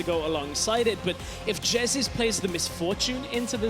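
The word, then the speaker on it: Jesiz: For the record, Martin, it's pronounced Jezis, and that's going to be a Gragas going up to the top lane instead.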